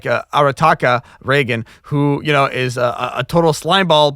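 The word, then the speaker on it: Reigen: Yeah, I mean, it's kind of very special because with Ryan, how do you pronounce his name? Reagan.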